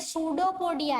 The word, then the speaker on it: pseudopodia: तो ये सूडोपोडिया है, पी साइलेंट है, ठीक है।